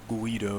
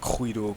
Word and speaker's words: Guido: pronunciation but it's apparently it's not like Guido it's like quido quido something binary file a